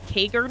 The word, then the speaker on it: Kager: It's Kager, not even Krager.